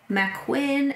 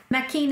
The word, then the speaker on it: Mackin: is Mackin and Fidele, which I wanted to pronounce Macquin and Fidel, and then I listened to the audiobook and I'm pretty much wrong about every name ever. Mackin and Fidele are much nicer sounding.